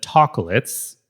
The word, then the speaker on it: Tocolates: I recently got my hand on the Tocolates. Yes, Tocolates, spelled like chocolate, but taco-lit.